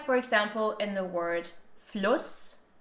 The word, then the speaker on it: Fluss: Or like for example in the word Fluss, with a short U sound and a double S afterwards, which is the word for river, Fluss, versus Fuß, which means foot, and this has a long stretched U sound, Fuß.